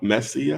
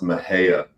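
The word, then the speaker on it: Mexia: morning Mexico am I I mean Mees me messia actually funny enough it's pronounced Maha Maha okay yeah and the reason why I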